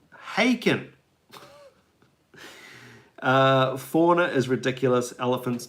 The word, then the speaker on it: Haken: I've been corrected remember Harkin rhymes with bacon haken uh fauna is ridiculous